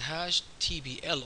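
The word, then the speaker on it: Hashtbl: Let's go to our beautiful top loop, and remember, hash table, by the way, in OCAML, the way it's pronounced is hash TBL.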